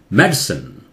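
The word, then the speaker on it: medicine: है, इंटेस्टिन, ठीक है, ये मेडिसन, या मेडसन भी बोल सकते हैं, मेडिसन भी बोल सकते हैं, मेडिसन, ठीक है, लेकिन सिन नहीं, सिन नहीं, ये आई डेफिनेटली साइलेंट है, सन, ये डाइजेस्टन, ब्रिटिश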